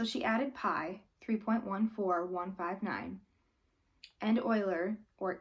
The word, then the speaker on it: Euler: 18th century Swiss mathematician eul er pronounced Euler had an important number